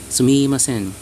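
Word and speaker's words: すみません: You pronounce at the mi part, you make it very fast. Sumimasen.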